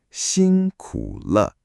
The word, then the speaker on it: 辛苦了: 辛苦了.